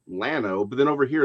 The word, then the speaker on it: Llano: Okay, so yes, if you were pronouncing it in Spanish, it would be llano, but it's actually Lano.